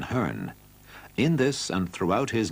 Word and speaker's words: Hearn: remarked that he had liked to pronounce his own surname heron rather than hearn in this and throughout